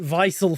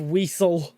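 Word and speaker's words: Wiesel: But yeah, every single time I run into it, I pronounce it vicil for some reason instead of weasel No problem.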